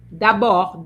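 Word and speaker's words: d'abord: Dor, the D silent.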